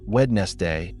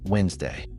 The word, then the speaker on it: Wednesday: Many English learners find it hard to pronounce because it's not wedess day, but Wednesday. That silent D is a little historical mystery.